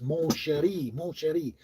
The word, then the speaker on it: Mon Chéri: It's like Mon Cherry. No, it's Mon Chéri.